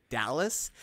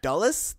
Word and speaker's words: Dulles: in the chat here trying to correct our pronunciation of the word Dallas it's actually my Dallas it's Washington DC Dulles Airport International Airport Dulles thank you got him